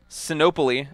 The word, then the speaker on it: Sinopoli: Clinton Cardinal over Jessie Sanaa Polly I've been corrected I used to pronounce that wrong I I'm not sure how to pronounce it no Polly it's no Polly it's Italian not Greek that's I knew something